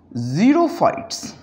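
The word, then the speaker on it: xerophytes: अगर biological sciences में कोई वर्ड स्टार्ट हो रहा है विद X, हम X के बजाय उसको प्रोनाउंस करते हैं एज Z, लाइक ज़ीरोफाइट्स।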